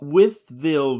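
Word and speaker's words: Wytheville: I mean that the audience, and it's Whitfield, right? I don't want to say it wrong because I know a lot of people get the name wrong. Withville, Virginia. Yes.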